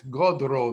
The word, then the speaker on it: godro: an n in it look at gordo reverse the d and the r it's godro the way we pronounce it look at the r